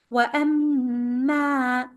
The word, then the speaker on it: وأما: وأما. Ma is a shadda letter. You have to make it stronger 2 counts. And it is followed by alif to make it longer also.